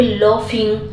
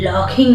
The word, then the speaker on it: laughing: समझ में आएगा कि यहां पर लफिंग ल पढ़ते हैं ठीक है लॉकिंग नहीं ये ध्यान देने वाली चीज है कि जीएच कहीं पे फ भी पढ़ा जाता है ठीक है तो ये